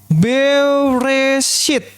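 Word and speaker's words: בראשית: Ini B, bet. Ini apa? Res. Alef. Alef. Shin. Ini yot. Yot. Nah, yot ini karena ada titik di bawah dia I. Nanti saya akan ajarin cara bacanya ini. Ini tau. Sehingga ini dibaca apa? Bereshit. Nah, Bereshit. Itu bacanya. Kita lagi yang bawah.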